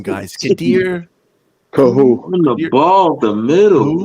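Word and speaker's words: Kohou: Kahu. On the ball, the middle. Like, it sounds like Ka, but it's Kahu.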